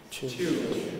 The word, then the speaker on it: tune: that increasingly, in fact, people pronounce words like tune with a straightforward ch, as in chair, and so they say tune. So if you like, you can say tune too.